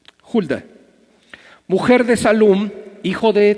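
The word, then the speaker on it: Hulda: tías a la profetiza se escribe ahí hilda pero en realidad se debe pronunciar julia julia mujer de salud hijo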